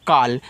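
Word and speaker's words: call: Double L है तो एक ही बार वाला।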